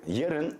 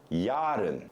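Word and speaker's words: yarın: you will hear jiren is tomorrow and you will hear a lot of native turkish speakers pronounce it yaden they will make it a long first syllable but it is not so long it's just saying would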